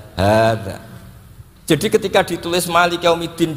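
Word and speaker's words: هذا: Sama kalau nulis hada, ha dzal alif, bacanya apa? Hada.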